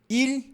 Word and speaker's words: ils: Ou seja, o pronome aqui, ó, ele e eles, a pronúncia é igual.